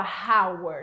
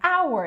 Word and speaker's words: hour: Só que, prestem atenção, em alguns momentos o H é mudo. Por exemplo, a palavra hour. Você não fala hour, não, é hour, é como se não tivesse SH.